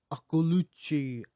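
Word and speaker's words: Akliouche: We're talking about Magnus Akulucci, Yeah, he hit that. Akiliuc, He hit that the French pronunciation.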